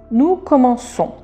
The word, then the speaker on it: commençons: Nous allons mettre une CD pour C pour le prononcer comment c'est comment son et on l'applique seulement pour nous. Nous commençons.